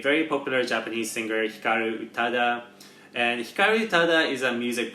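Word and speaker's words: 歌: Is that the correct pronunciation? Uta or utau? Uta.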